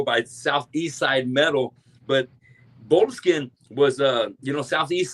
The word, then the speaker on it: Boleskine: looking into I had to I never heard of the word Bolskin and did am I pronouncing that right? Uh Bolinskin. Yeah. Bolinskin.